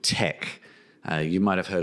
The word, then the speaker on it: TeX: and yes it's teex it's pronounced Tech this is a decades long discussion but that is how it's said so not going to